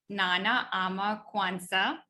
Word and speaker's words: Nana Ama Quansah: Nana Ama Quansah. I think I pronounced that right.